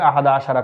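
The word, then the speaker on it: أحد عشر: আহাদা আশারা কাওকাবান। আহাদা আশারা শব্দের অর্থ হচ্ছে 11। আমরা এই 11র আরবি উচ্চারণটি এখানে লিখে দিয়েছি। আহাদা আশার। আমরা সহজে বলার জন্য বলব আহাদা আশার।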